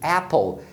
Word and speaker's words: apple: Então, se você olhar, você percebe que a primeira sílaba de apple termina em P, né? AP. Então, esse A tem que ser pronunciado E. Então, é sempre apple, não é apple.